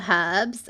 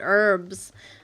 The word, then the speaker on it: herbs: But yeah, I've bought some herbs, which is exciting. I'm probably saying it funny to you because I think Americans pronounce it herbs, not herbs. They don't put much emphasis on the H, which is interesting, but you do you, right?